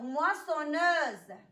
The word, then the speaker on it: moissonneuse: Alors, تلاحظوا على أن الكلمات الأولين فيهم S نطقات ليا عادي بحرف السين. مي في هاد الكلمات هادو بجوج تقرات ليا ز. Alors, moissonneuse.